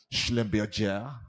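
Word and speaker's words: Schlumberger: you've got your you know companies your ibms you've got your atnt your Exxon Mobil schlember I have to say it like that because it's German uh shell mobile General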